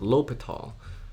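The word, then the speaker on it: L'Hôpital: and this is pronounced l'hopital uh we you don't say the h and if sometimes i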